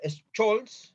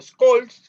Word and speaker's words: Scholz: canciller que es Olaf Scholz, o Scholz, como se pronuncia en alemán, y esperemos que disfruten este especial y esta conversación que tenemos con Peter esta tarde.